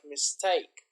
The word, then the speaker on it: mistake: You can see here mistake. So the intonation is, the stress is on the second syllable, like mistake.